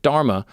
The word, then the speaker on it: dharma: just an act of dharma, but means of purifying the intellect. He taught. Also, I was told that it might be pronounced dharm. I think the A might be silent.